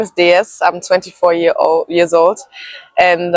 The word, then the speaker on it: Déesse: I hope I pronounce it Déesse. Déesse. Déesse. Déesse. Déesse. Yeah, Okay. perfect. So we go Déesse.